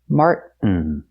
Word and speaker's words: Martin: There's actually only one natural pronunciation here, the choking sound, which in linguistics we call a glottle stop.